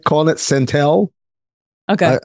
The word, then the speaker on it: Centel: People seem to like calling it Centel. Okay. I feel like it was made to rhyme with Central, so it would be Centel, but who am I?